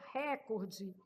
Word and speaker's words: recorde: lá e fala ruim o certo é falar recorde a pessoa vai lá e fala recorde filantropo aí a pessoa vai